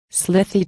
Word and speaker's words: slithy: that has often been asked me, how to pronounce and quo. Slithy toves and quo.